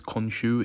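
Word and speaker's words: Khonshu: moonlight recently i'm sure you've heard the character konshu come up a lot um that is the correct pronunciation by the way is konshu if you've ever wondered um konshu is basically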